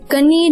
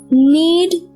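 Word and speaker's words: knead: यहाँ पर ये के जो है ये साइलेंट है, हम इसे कनीड नहीं बोलेंगे, हम इसे बोलेंगे नीड द डो।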